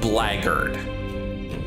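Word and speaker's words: blackguard: seeks our land's Throne I've always thought it was weird that Black Guard is pronounced blackard if we are to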